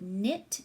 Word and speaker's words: knit: just the in sound we have to write that letter K but the K is silent so we have our word NIT K and I T grandma said she would knit me a scarf to